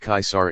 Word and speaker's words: Caesar: the English prince and Caesar pronounced kaisar in Latin and the source of